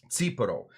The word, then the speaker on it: Tsipouro: So the T makes a T sound.